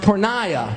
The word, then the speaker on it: porneia: It's a Greek word and it's pronounced porneia.